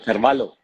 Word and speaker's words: Carvalho: Car- Carvalho. Carvalho, normal, como si fuera con L, pero se escribe con H.